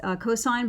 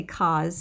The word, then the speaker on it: cos: out of an angle so it's pronounced cosine but we spell it cos so you're not going to say cos it's cos sine all